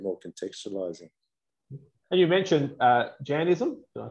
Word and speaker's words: Jainism: And you mentioned Jainism. Did I pronounce that right? Yeah, Jainism.